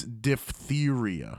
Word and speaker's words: diphtheria: The PHTH is weird because it's two soft sounds right one after the other, and it's hard to pronounce. Yeah, diphtheria. Diphtheria. It don't even act like the P's there.